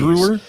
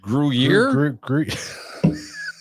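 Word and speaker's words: Gruyère: Brewer? Oh God, how do you say that? Gruyere.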